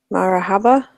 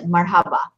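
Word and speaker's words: مرحبا: Marahaba? Good. Marhaba.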